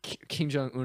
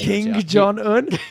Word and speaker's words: Kim Jong Un: What if Kim Jong Un had just one favorite? King Jong Un. That was just a mispronunciation.